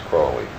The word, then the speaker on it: Crowley: My name is Aleister Crowley, because that I am holy. My enemies say Crowley and wish to treat me foully. So now you'll never forget how to pronounce it. It's Crowley. Crowley.